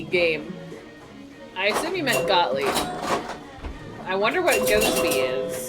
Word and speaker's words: Gottlieb: Oh, so you did mean Gottlieb. Okay, cool. I thought Go-To-Be.